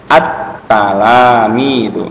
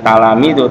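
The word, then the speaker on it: التلاميذ: Jadi otomatis kita mengucapkannya attalamidu ya. Paham ya? Jadi bacanya jangan talamidu tapi ditambah a.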